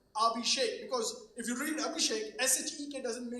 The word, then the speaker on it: Abhishek: remove my name tag and I put the pronunciation of my name on my chest saying Abhishek because if you read Abhishek shek doesn't make